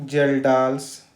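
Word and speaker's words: Kjeldahl: आपका है जल डाल जहां पर के साइलेंट है इसको हम बोलते हैं कि जेल डांस मेथड कि यह दो प्रोसेस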